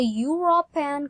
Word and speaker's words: European: And then that man has a European car. Nah, ini berbeda dengan yang ini nih. Dan ini juga tadi kan R, ini S. Kalau ini dibacanya pakai Y ya, seperti pakai Y.